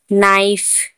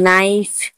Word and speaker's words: knife: जब एन से पहले के आए तो के साइलेंट होता है।